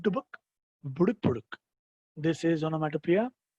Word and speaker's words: onomatopoeia: And the last one for the day, everyone, the last one for the day is onomatopoeia. But spelling is like onomatopoeia, but you pronounce it as onomatopoeia.